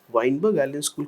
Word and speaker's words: Weinberg Allen School: watch during the monsoon Seasons you studied at wiberg Allen School yes am I pronouncing the name correctly yes sir Weinberg Allen School can you tell me more about about it